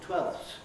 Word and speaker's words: twelfth: two of these uh he even labels 12th as casual for instance 12th i didn't say the f but people often use that pronunciation call it casual or